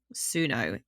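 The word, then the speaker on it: Tsuno: an awesome company called suno it's spelled t-s-u-n-o and like think of the word tsunami but then oh sooner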